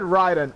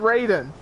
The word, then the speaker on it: Raiden: and Shogun too wait I said Ryden I meant Raiden look how the way it's spelled Raiden not Ryden like Raiden from Mortal Kombat that's how it's pronounced I'm not gonna pull